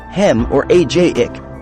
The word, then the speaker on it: hemorrhagic: unknown reasons these are cryptogenic Strokes the word cryptogenic means hidden origin hemorrhagic stroke hemorrhagic pronounced hem or AJ ick Strokes cause bleeding in